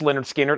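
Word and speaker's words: Lynyrd Skynyrd: $64.99 the very popular Leonard skinnard pronounced Leonard skinnard analog production $64.99 and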